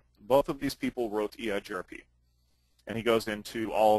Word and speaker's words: EIGRP: that's a sticking point it is eigrp not egrip um that's not that's one acronym you never pronounce um eigrp is a